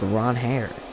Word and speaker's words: Ranger: Ron Hair Suarez because in his opening press in his introductory press conference, he said his name is pronounced Ron Hair, but we're still going to call him Ranger.